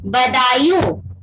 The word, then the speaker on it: Badaun: Therefore, Iltutmish के son-in-law Aibak, son-in-law of Aibak and the Subedar of Badaयूं, इसको क्या pronounce करोगे? BADAUN, बदायूं.